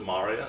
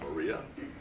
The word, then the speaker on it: Maria: But the other interesting thing is every word, it's the first syllable which is emphasized, so it's always Maria, not Maria, which makes translating like iambic pentameter into Finnish really, really hard.